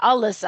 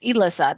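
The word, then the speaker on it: Elyssa: And then I have a character named Alyssa with an E, and I didn't want people to call her Alyssa. I wanted her name to be pronounced Elissa. That's her name.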